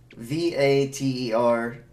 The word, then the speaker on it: Vater: Vater, V-A-T-E-R, and the F is pronounced and the V is pronounced as an F.